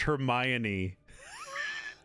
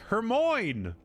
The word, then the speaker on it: Hermione: It wasn't until the movies I realized it's pronounced Hermione. When my when my dumb America American brain read it, I was like, "Hermine, Hermmon's in trouble.